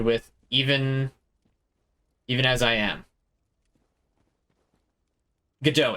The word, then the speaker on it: Godot: Godot, it is how you pronounce it.